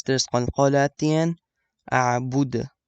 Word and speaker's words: أعبد: أعبد. You have to kind of echo the last letter.